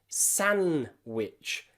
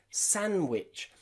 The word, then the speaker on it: sandwich: Most people don't say sandwich, they just say sandwich because the D in the middle is silent. Sandwich, sandwich, not sandwich, okay?